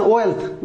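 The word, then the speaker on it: wealthy: ওয়েলথি, feel থেকে ফিলথি, এর উচ্চারণ দি হবে না, থি হবে।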